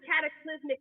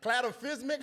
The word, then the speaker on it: cataclysmic: They didn't go into detail, but that was the cataclysmic effect of him having somebody. So she was like, okay, so you got somebody. Wait, say that word again. What? Boom, right over my head. Cladophismic, how you say it?